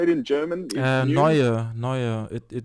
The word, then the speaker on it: Neue: Neue. It means Neue, yeah, sorry, Neue.